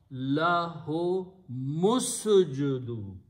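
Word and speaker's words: لَهُمُ اسْجُدُوا: Now, when you read these two words together in the tajwīd, you do not pronounce this alif in between, and it changes into a sound of no alif, which is hamzatul waṣl.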